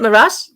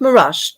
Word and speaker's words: Meraj: Why do you say Z with a J at the end? I can't confirm this, but from what I understand, that's the way the J is pronounced in. It would make sense because of Taj, right? Yeah. Like in Taj Mahal. Yeah, in the Pakistan, India region, the J is like a J.